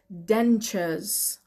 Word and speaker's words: dentures: Tu بیشتر مواقع در زبان انگلیسی صدای چ میده. Dentures. Dentures. Spell کنیم dentures. dentures. یه بار دیگه dentures به معنی دندان مصنوعی. Dentures. dentures. Dentures. Dentures. Den که قشنگ میشنوین توی پرونانسیشن من، T و U با هم صدای چ میده. R رو که در انگلیسی بریتیش تلفظ نمی کنیم.